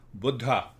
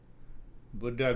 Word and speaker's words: Buddha: Buddha. We Americans say Buddha. Now, I cannot speak the way you guys speak. Buddha means old. So actual pronunciation is Buddha.